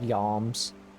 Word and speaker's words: yalm: It's called yalms. Much like how you guys mispronounce comrade and whatever the other one is, it's called yalms.